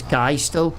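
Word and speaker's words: Geistal: I'm not sure, but I pronounce as guy still. G E I S T A L.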